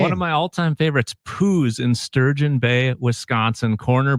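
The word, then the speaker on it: Poh's: They lost an O, so it's Pooh's, but it's Pooh's. It's pronounced Pooh's, but you're right, because it was, legalities.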